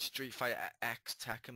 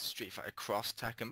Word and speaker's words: Street Fighter X Tekken: And I do realize it's not pronounced Street Fighter X Tekken, by the way. It's Street Fighter Cross Tekken.